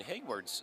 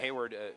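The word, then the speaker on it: Heyward: right through the middle your gray guy Ironhead hayward's son is Cam Hayward who's a Pittsburgh Steeler were you aware of that day I was not aware of that Hayward played his college ball the Ohio State University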